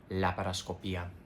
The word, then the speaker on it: laparoscopia: But in Spanish, we don't have, you know, silent vowels like that. Like that happens in English. You have to say laparoscopia.